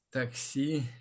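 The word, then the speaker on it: taxi: оцих слів для повторення таксі тільки пам'ятаємо що в іспанській мові якщо слово закінчується наголосну наголос падає на передостанній склад і воно буде звучати як таксі таксі Супер А ось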